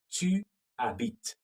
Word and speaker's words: habites: Tu habites. The S is silent, okay? It has to be there, but it's silent.